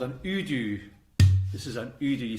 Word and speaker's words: udu: Oh, this clay pot is called an udu. This is an udu. You spell that U-D-U, I think.